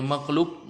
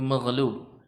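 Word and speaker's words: مغلوب: Kalau antum bacanya makhluk nanti dikasih nasi Arab. Kemudian ada ayamnya, ada cabainya. Makhluk ya kebalik nasinya nyajikannya kebalik. Makhlub ini maghlub.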